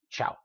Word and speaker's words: ciao: like in Italian, but think about how we pronounce things in Spanish. That should be ciao. I mean, it sounds like something a cat might say, ciao. No, it's ciao. I mean, the other one works in Italian, but in Spanish we pronounce it ciao, and it's one syllable.